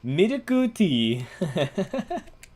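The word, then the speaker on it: ミルクティー: if you ask for like a milk tea, you literally it's just milku tea, which sounds racist, but it's not. It's literally how you say it.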